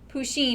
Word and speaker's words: Pusheen: Pusheen, it's spelled P-U-S-H-E-E-N. So the word push, or the word like a P-U in front of sheen.